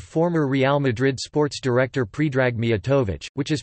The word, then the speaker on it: Predrag: They are restricted mostly to loanwords and foreign names, such as the first name of former Real Madrid sports director Predrag Mijatovic, which is pronounced pe-eth-a, and after another consonant, the voiced obstruent may even be deleted, as in iceberg, pronounced i-theta-e-beta-e.